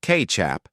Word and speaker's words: Kê-tsiap: In Indonesia and Malaysia, the word Kê-tsiap, pronounced Kê-tsiap, emerged as a generic term for fermented sauces, most notably Kê-tsiap asin, salty sauce, and the sweet, soy-based Kê-tsiap manis.